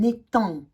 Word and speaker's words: étang: Nous avons aussi pour faire attention, ici, on ne le prononce pas. Un étang, c'est long.